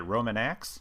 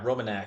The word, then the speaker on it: Romanax: you the Roman how do you say it Roman a yeah Roman a so if you go to our website www.